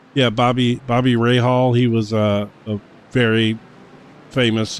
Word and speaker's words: Rahal: It's actually the Rahal straight is how it's pronounced. Yeah, Bobby Rahal.